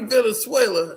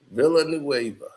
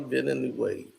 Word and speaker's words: Villanueva: Charlie Venezuela, no, it's Charlie Villanueva. Nueva. That's how it's said. Villanueva. That's how it's pronounced. Charlie Villanueva.